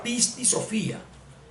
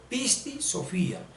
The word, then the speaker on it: Pisti Sophía: misma cosa o sea la palabra pisti Sofía se pronuncia pisti Sofía pisti Sofía con tilde en la i y debemos eluir un